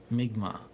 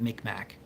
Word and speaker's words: Mi'kmaq: And on my mom's side, I actually have Mi'kmaq as well. So, which people used to call that Micmac, but yeah, more accurate pronunciation is used now.